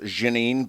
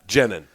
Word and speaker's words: Genin: word coal miner my my last name is french it's jenin and it's actually pronounced jeanine but i have 100 adopted like the americanized version of it yeah yeah jenning yes yeah yeah um